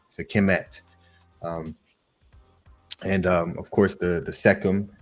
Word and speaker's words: Sekhmet: It's a lot of us say Sekhmet because that's kind of how it sounds when you spell it out like that. But really, it's Sekim with the et at the end, the T that makes a word feminine. So really, it's Sekim et or Sekim T, Sekimet.